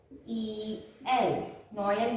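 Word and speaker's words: Noël: Noel means Christmas. So we have to pronounce O and E individually.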